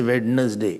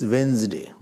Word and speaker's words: Wednesday: pronunciation it is pronunciation don't say wedness day it's Wednesday Wednesday not wers don't say